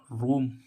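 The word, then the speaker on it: roam: की मछली ऐसे इसमें देखें आर ओ एम रोम रोम रोम मींस इधर उधर भटकना रो मींस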